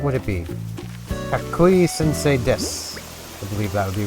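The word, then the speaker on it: です: So, like, des, or desu. It's, de and su together, but it seems to be pronounced des.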